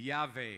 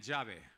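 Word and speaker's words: יהוה: Por favor, habla español, no digan llave. Mucha gente ha dicho, Dios es llave. Él es llave, pero ese no es el nombre de él.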